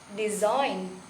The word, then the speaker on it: design: ign becomes sign sign the second is in the word of d e s i g n becomes design design and the third is